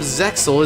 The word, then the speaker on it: Zexal: When two distant souls become one, the power of Zexal is revealed, even though it's pronounced Zael, technically.